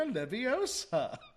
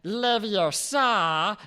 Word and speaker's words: Leviosa: She was all like, it's not Leviosa, it's Leviosa. Jeez, Harry, no wonder she doesn't have any friends.